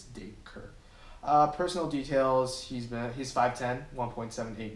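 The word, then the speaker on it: Dacre: First name pronounced Daker. Do not know how to say that name. It's a Daker. Okay, instead of Dacker.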